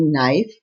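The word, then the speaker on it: knife: word is डब्लू के एन आई एफ ई नाइफ चाकू silent word is के के एन ओ डबल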